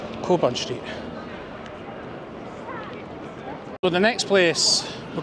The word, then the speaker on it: Cockburn Street: the wrong thing yes I've always pronounced it cockburn street because it's spelled burn yes C bun street but it is cobn street so the next place